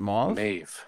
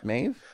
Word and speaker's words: Maeve: Is it Mauve? Maeve. No, Mauve would be with you. Maeve. It's Maeve because some girl in my niece's class, that's her name.